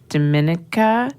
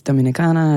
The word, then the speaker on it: Dominica: because you moved to Dominica. Yeah. Okay. It's all about how you say it. Otherwise, people think it's Dominicana and they're thinking Dominican Republic.